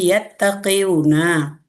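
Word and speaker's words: يتقون: Karena ada huruf waw akar kata melebur kata menjadi ta tasdid, jadi membacanya jadi yattaqiyuna.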